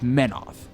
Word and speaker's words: Menoth: Because it's Menoth.